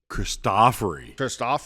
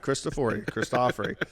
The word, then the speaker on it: Cristofori: Because Cristofori. Yep. That's how you say it. Not Cristofori.